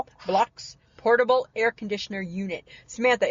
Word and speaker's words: Blaux: That's like French, like blow. Blocks.